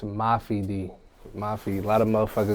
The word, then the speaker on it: Mafi D: stage name it's a Mafi D Mafi a lot of be like Mafia D I don't like that it's Mafi without the a Mafi people do mispronounce